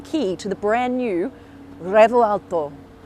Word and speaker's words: Revuelto: I've got the key to the brand new Revuelto. That's kind of how you say it, but not really. You're meant to roll the R, but I can't roll R's.